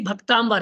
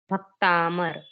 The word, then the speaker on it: भक्तामर: संस्कृत भी शुद्ध पढ़ेंगे जैसे देखो भक्तामर है कि भक्तावर है भक्तामर सर भक्तामर जबक बोलते क्या हो भक्ता भक्तामर बोल देते हैं ठीक है ना इनको